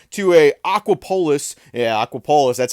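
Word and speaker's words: Aquapolis: Yeah, Aquapololis.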